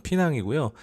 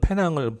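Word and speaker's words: Pinang: 한국 분들은 주로 페낭이라고 많이 부르는 피낭이고요. 피낭 역시 뭐 도시 규모가 좀 있어서 그런지 범죄율 같은 경우는 약간 높은 편 정도 나타내고 있는 것 같아요. 현지 분들은 페낭을 피낭이라고 부르더라고요.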